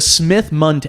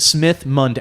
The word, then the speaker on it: Smith-Mundt: is it um so it's called the the Smith Mund act it was passed uh back in 1945